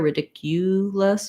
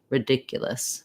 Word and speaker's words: ridiculous: a clear oo they're ridiculous but ridic yeah it's going to be a schwa and another schwa in the final syllable so it's going to